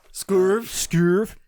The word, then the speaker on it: Scörv: There's an umlaut there. Scörv Make sure just... to pronounce it. Scörv.